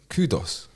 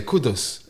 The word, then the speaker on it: Kudus: They're saying kudos.